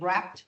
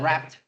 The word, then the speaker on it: wrapped: Um, we say wrapped. Okay. The the W is silent. So, we say wrapped.